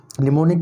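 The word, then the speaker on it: mnemonic: यह निमोनिक code, निमोनिक की spelling NEMONIC होती है, इसमें M साइलेंट रहता है।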